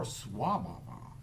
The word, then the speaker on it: svabhava: and more into buddhism is faba s-v-a b-h-a-v-a or s-wah-bah-bah if you want to